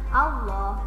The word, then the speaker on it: Allah: fathah dan dhammah misalnya Allah, Tauloh, Buloh, Juloh pasti ketika masuk ke lamnya dibacanya loh pakai o bukan pakai a ya, hati-hati.